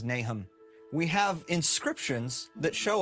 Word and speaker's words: Nahom: talking about nay home is it pronounced nahome yeah I mean you can we don't know how it was pronounced anciently okay the pronunciation guide in the Book of Mormon says nahm we have inscriptions that